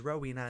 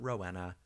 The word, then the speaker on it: Rowena: all social media and yes it is Rowena not Rowena Kimmy the number of times my name has been pronounced Rowena is I mean the pun is literally rowing away so rowing away like